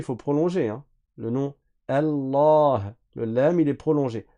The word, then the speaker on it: Allah: fatigue dans ce cas-là Allah et leif ici on le prononce pas parce qu'on fait la liaison c'est un alif de liaison à chaque fois que